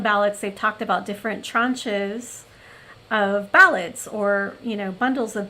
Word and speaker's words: tranche: to pronounce this word, there is a French way, because I mean it does come from French. And so I believe they pronounce it tranche, I believe.